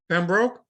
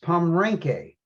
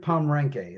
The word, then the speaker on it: Pomrenke: Mark, how did you pronounce Jacob's last name? Pembroke? No, it's Pomrenke. Oh, Pomeranke? I know him pretty well too. He's a wonderful guy too. I, Really nice man. Jacob Pomrenke is how he pronounces his name.